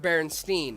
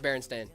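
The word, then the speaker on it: Berenstain: Now, it was spelled it was spelled Baronstein. It was pronounced Baron Stain. No, no, no, no, no. Yes. No, no, no. Yep. It was always pronounced Baron Stain.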